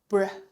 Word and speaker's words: 不是: And you may also notice that in northern people's speech, they tend to pronounce 不是 as br, br, 不是 br, br, 不是，你怎么证明？不是，你怎么证明？